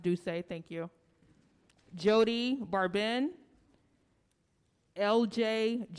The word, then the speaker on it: Doucet: Stray Stewart, Ted Carlson, Alex M., Isa Madrid, Madeline Baker, Terry Satterfield, Ansel Smits, Heather Ann McLeod, Remy Doucet, pronounced Doucet, thank you.